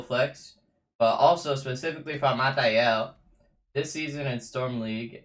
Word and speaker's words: Malthael: Today we're going to be doing a Malthael guide. Now right off the bat, I want to make one thing clear. It's not Malthael, it's Malthael.